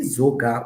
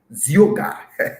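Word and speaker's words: Zeogar: Zoga Wilson. Zioga, D. Zioga Wilson, and that is the correct pronunciation.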